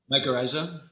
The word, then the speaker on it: mycorrhiza: Mycorrhiza.